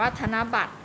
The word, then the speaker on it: ธนบัตร: นะ คะ อ่าน ว่า ธนบัตร นัก เรียน ขา คำ ว่า ขว้าง จาก คำ ว่า พรม คำ ว่า ธนบัตร นะ คะ มี พยัญชนะ ที่ ไม่ ออก เสียง ด้วย นะ คำ ว่า ขว้าง จาก มี รอ เรือ ค่ะ คำ ว่า พรม หอ หีบ นะ คะ ธนบัตร รอ เรือ ค่ะ ที่ ไม่ ได้ ออก เสียง นะ อีก ต่อ ไป